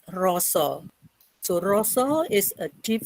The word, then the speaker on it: rasa: The deep feeling we write in Bahasa Indonesia is rasa, but in Javanese language, we pronounce it with roso.